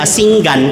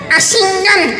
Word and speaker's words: Asingan: Andito tayo sa Asinggan. Tama po ba yung pronunciation ko? Asingan. Asinggan Pangasinan.